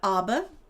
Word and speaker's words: abba: So, one of the words is abba, which means father in both Hebrew and Arabic. And it's pronounced abba and uh imma is mother in Hebrew and Arabic.